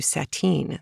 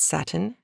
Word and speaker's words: sateen: You'll hear a reference to sateen. This is not satin, pronounced incorrectly.